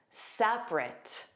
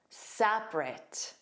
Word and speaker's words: separate: Again, that middle vowel sound is dropped. But notice again that ending is pronounced as a more unstressed writ. Because you'll see in the phonetic spelling you see the two schwas the middle one but all you hear is the R sound and then the end